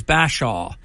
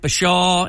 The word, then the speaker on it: Bashaw: it for those listening Curtis is Curtis Bashaw it's not Bashaw and it's not all